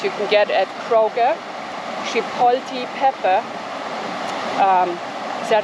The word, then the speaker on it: Chipotle: Chipotle pepper. Is that how you pronounce it?